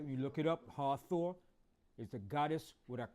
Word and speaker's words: Hathor: So this was the god Hathor. All right, Hathor was the Egyptian goddess of love, protection. All right, it was shown with the head of a cow. All right, when you look it up, Hathor is the goddess with a cow, the head